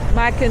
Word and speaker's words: Mackinac: upscale class of people how do you pronounce ma Island Mao Mao Island that's how to correctly pronounce so this is the